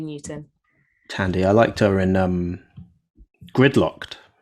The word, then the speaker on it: Thandie: Am I saying her own name wrong? Yeah, Thandie Newton. Tandy.